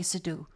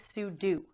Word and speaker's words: sudo: Do not say sue. Stands for super user do. So technically it's sudo.